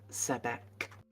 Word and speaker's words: Sebek: Is it Sebek? Yep, Sebek. Like the Egyptian god of the Nile? No, that's Sobek.